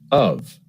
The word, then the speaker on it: of: One more thing I noticed, Jill, is the pronunciation of the word of in these structures. It seems to be reduced. I think it is. We might just use the reduced vowel, our old friend schwa, instead of clearly saying the word of.